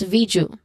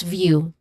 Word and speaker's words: view: So that for you just to not to be confused, because you might pronounce it as viju, which is of course not correct. That's view.